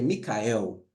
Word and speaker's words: Miguel: muito bom o nome Miguel o nome Miguel tá a pronúncia seria Micael então no hebraico Micael aí virou migel nó esse nome ele